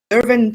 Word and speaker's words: Yerevan: Mego, born in Lebanon, as I said, he earned his medical degree in pediatrics from Yerevan State. Did I pronounce it right?